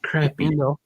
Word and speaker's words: crappie: crappie. Thank you very much. If if it was supposed to be said like that, it would be spelled like that. Crappie, but it's crappy.